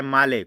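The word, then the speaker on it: Malé: कभी भी इनका मैप सही से नहीं मिलेगा, क्योंकि ये छोटे छोटे आइसलैंड के रूप में इनका देश बिखरा हुआ है। कैपिटल है माले। कुछ लोग इसको मेल पढ़ते हैं, तो गाइस सही प्रोनाउंसिएशन है माले।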